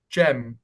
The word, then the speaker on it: Cem: and they'll be like, "Oh, oh, Jem, is this how you say it?" I was like, "Yeah, yeah. Do you want us to say your surname as well?